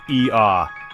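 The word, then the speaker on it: Oia: Alright, let's kick things off in Oya, pronounced E-A.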